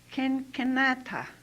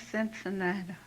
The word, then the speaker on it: Cincinnati: in the alphabet, and the C, she said, told us to pronounce k, k. So I looked at a word there. I looked at it hard and started with a C. So I said, Kenata, and that's Cincinnati.